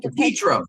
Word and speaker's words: DePetro: I was looking at a video with John DePetrio. Is that how you say his name? John DePetro.